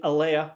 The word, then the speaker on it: Aleah: It's Aleah, not Aleah. Yes, Aleah.